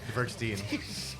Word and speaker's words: Dvergsten: Did I say it right? Pretty close. Is it Steen? Yeah, Dvergsten. You say it different than I do.